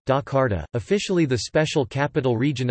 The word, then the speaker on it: Jakarta: Jakarta, Indonesian pronunciation, Dakarta, officially the special capital region of Jakarta Indonesian, Daerah Khusus Ibu Kota Jakarta, is the capital and largest city of Indonesia.